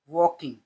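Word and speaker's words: walk: दोनों article old बूढ़ा या पुराना मैन आदमी वॉकिंग इसमें एल साइलेंट रहता है।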